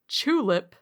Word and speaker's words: Chulip: And I have selected a little game called Chulip, spelled like tulip, but with a CH at the start.